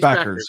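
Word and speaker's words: Bueckers: Paige Beckers.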